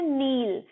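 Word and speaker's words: knee: छुपाओ लुट नेक्स्ट है के एन डब्ल्यू एल को हम बोलते हैं नील इसमें कि हमारा साइलेंट रहे का यह कुछ साइलेंट होता है शॉर्ट वीडियो में पढेंगे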